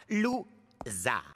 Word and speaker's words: Loser: Mon nom se prononce. Lou-.